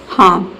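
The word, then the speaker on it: harm: लेकिन हार्म आपको नहीं बोलना है। आपको बोलना है हार्म। ठीक है? हार्म। यानी कि इसमें जो आर लेटर है वह साइलेंट आपको रखना है। हार्म।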